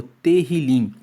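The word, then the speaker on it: תהילים: Para os judeus, o livro de Salmos é conhecido como terilim. Se escreve T E H I L I M.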